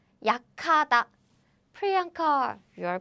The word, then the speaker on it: 약하다: Again, we don't write it like this, but we don't write it like 약하다 because this is combined as 카. We don't write it like this, but still, this is how Korean people pronounce it. 약하다, 약하다.